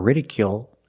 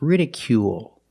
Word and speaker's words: ridicule: we pronounce it long it's not radical or ridicule it's ridicule make the long u sound plus the dark L at the end of the word ridicule ridicule is a